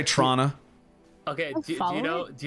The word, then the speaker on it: Toronto: Lea let's go baby we drop the second T and we know who's foreign based off of how they say it or or we'll say Trana okay do you know